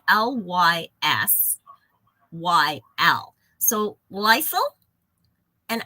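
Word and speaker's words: lysyl: spelled l-y-s yl so Lysol and I just don't want that to sound like Lysol the cleaner but Lysol hydroxylase is an enzyme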